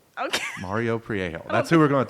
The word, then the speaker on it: Mario Priego: Yeah, how do you pronounce his last name? Mario Priego. Okay. Mario Priego.